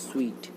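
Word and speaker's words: suite: Star hotel में, तो उसे हम बोलते हैं स्वीट। तो आप बोल रहे होंगे कि सूट किसे कहते हैं फिर, तो उसकी स्पेलिंग होती है SUIT, उसमें ई नहीं लगता,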